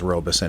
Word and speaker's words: Robison: They interviewed a guy named John Robison, and I think it's pronounced Robeson actually.